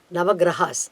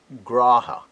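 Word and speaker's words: ग्रह: Gra is a short letter, Ha is a short letter, but when you say as a plural number, Nava Grahaha, we can say.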